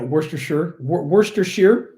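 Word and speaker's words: Worcestershire: Georgia Pennsylvania yeah yeah Worster Worster Shear sauce which I had to learn years ago to pronounce that correctly um ah anyway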